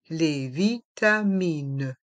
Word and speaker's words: vitamines: le S sont muet les vitamines dans le mot vitamine le s est aussi MUI les médicament les